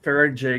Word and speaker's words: Faraday: But I have one of those roll-up Faraday cloth, yeah, the Yeah, you said it right.